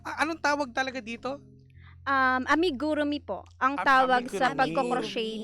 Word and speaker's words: amigurumi: Hindi ko kasi mabigkas ito kasi ba ito yung cruso yung paggawa. Anong tawag talaga dito? Um amigurumi po ang tawag sa pagco-crochet ng dal.